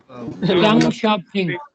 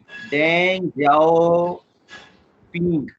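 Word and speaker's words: 邓小平: तो वो एहसन इकबाल बोल रहे थे, डेंग जाओ पिंग, डेंग बोल रहे थे। तो गलत नहीं बोलना है ना, जब सीख लेंगे तो फिर आपने सही बोलना है।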